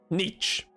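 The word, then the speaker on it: Nietzsche: uh uh wait no Friedrich Niche or Nishi what Niche is how it's pronounced and uh well he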